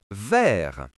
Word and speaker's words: vert: Le t à la fin est muet. On lit donc vert.